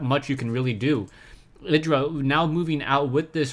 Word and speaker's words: IdrA: Now someone once told me that I pronounced Idra wrong, and I should listen to Tastosis, Tasteless and Artosis on the correct pronunciation.